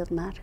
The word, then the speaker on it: Ottmar: julio ortega de la universidad de brown y ottmar ette pronunció bien tu nombre osmar muy muy bien que es profesor de la